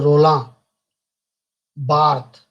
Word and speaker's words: Roland Barthes: a very crucial role he's a french person so that's why i'm pronouncing it as his name is not a ronaldo it's a roland barthes who applied the structuralized